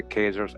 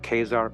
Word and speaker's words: Khazar: The Jewish Encyclopedia refers to the Khazars as Chazars. The 2 spellings are optional, according to the best authorities. The 2 are pronounced alike, either Khazar or Chazar, or Khazar, right, is the real pronunciation.